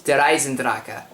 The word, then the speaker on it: Der Eisendrache: All you people keep pronouncing it either Der Eisendrache or Der Eisendrache. It's Der Eisendrache.